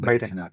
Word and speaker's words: Baijnath: It is Vaidyanatha Swami. Okay. In the North India, they call it Baidinath.